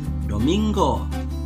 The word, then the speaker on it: domingo: Kalau sebelum huruf G ada huruf N, maka mereka biasanya membunyikan itu seperti double G dalam bahasa Indonesia. Misalnya, kalau tulisannya bunga dalam bahasa Indonesia, maka mereka akan mengucapkan bunga, bunga. Kalau tulisannya domingo, maka baca domingo, hari Minggu.